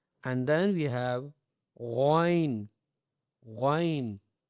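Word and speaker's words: غ: And then we have ghain, ghain with the full mouth and bold word, ghain.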